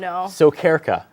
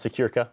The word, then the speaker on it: Sokyrka: name all this time oh so carica that's honestly that's perfect okay it's not secure as I've been saying it you know what it's